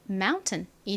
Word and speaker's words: mountain: 그래서 TAIN은 어떻게 소리가 나나요? 튼으로 발음이 되죠. 자, 그럼 한번 읽어볼까요? 먼저 이 단어는 앞부분이 M은 미음 소리, OU는요, 아우 소리가 나죠? 그리고 니은 받침 연결하면 mountain이 됩니다.